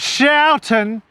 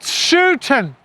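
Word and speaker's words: Schouten: It's not Shoutton. It's pronounced Shutton.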